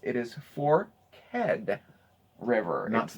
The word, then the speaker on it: Forked River: place is the pronunciation it is two syllables it is for head river that's not a forked it's spelled forked but they say that commonly new residents and outsiders call it forked once Deven okay so